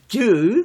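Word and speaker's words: 子: 저 지금 현재 중화인민공화국 사람들은 자라고 안 해요. 발음을 쯔 그럽니다.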